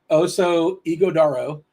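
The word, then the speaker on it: Oso Ighodaro: I have it written down phonetically. Oso Iguodaro.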